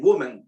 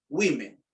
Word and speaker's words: women: entonces, mujeres, woman, también, woman, dice. No, en este caso la O se lee como una I, un caso excepcional, ¿no? Women, ¿ok?